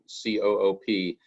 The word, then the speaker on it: COOP: So a continuity of operations plan, or COOP, and I also want to stress that that acronym COOP, that's not co-op.